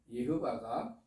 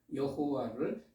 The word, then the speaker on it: 예호바: 여태까지 여호와로 알고 있었는데 성경 원문은 히브리어 성경 원문은 예호바 맞습니다 그래서 저는 성경 원문대로